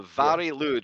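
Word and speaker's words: Mari Lwyd: so the Vari lud the Vari lud which is spelled like Mari lid uh yeah that's the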